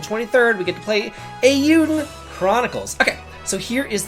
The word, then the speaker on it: Eiyuden: of y'all, because all I ever do is mispronounce anything. So it's Eiyuden, and I was calling it Eiyuden.